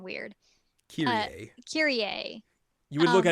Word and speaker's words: Kyrie: They pronounce her name weird. Kyrie.